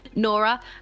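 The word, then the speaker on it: Gnora: said uh i play nora uh with silent g that's important she's a gnome and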